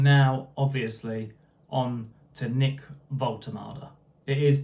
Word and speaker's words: Woltemade: And now, obviously on to Nick Volultard. It is pronounced Voltomada, by the way.